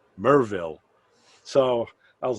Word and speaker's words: Maryville: it's maryville but he says no ray it's pronounced merville so i was like all right he says get that right it's mervill it's not maryville like learn your southern uh you know so